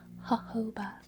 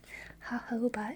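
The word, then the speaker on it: jojoba: It's pronounced hoba. Isn't that fun to say? Hoba.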